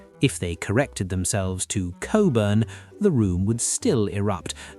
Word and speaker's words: Cockburn: Social etiquette insists that we pronounce it coburn.